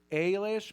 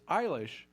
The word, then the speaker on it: Eilish: But everybody is always, up until recently, but everybody's always, is it Ailish? Because it's Eilish, the A is silent, it's Gaelic.